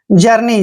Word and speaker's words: journey: Next word JOURNEY, देखिए JOU का उच्चारण यहाँ पर जाऊ नहीं करना है, सिर्फ जय ही करेंगे, एक तरह से और यू यहाँ पे साइलेंट रहेगा। R को हम रे पढ़ते हैं, और N का उच्चारण न करते हैं, और EY को बड़ी की मात्रा पढ़ेंगे।